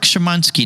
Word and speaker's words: Szymanski: i get it right you got it jarek shimanski now yaric in my head the way i